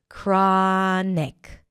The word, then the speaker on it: chronic: 'kraa', round your lips for the R, 'aa' as in 'father', 'kraa-nik', 'kraa-nik'.